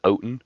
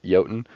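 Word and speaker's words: Jötunn: to you said the oin is that the it's spelled with the J so it's like a y sound oh okay the yoten uh they're like it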